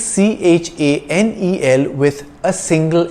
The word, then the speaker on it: Chanel: english word channel it's c h a n e l with a single n and it's pronounced chanel because ch is pronounced sh in french chanel is a french